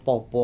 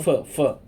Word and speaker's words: Pho: Po apa? Pho. Ya, pho ya bacanya.